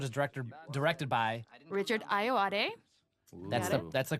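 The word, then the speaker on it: Ayoade: and this episode is directed directed by richard iowa that's the that's the correct pronunciation who's uh from the british i.t crowd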